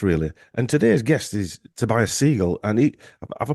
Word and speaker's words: Tobias Segal: And today's guest is Tobias Segal, and have I pronounced that right, Tobias?